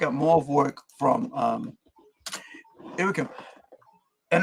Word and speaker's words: Joakim: So if you guys are checking out, you know, want to check out more of work from Joakim, and it is Joakim, not Joakim or Joakim.